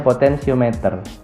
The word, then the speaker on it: potensiometer: Atau kalau di modul kalian tulisannya mungkin potentiometer, itu bahasa Inggris, sama saja. Bacanya potensiometer.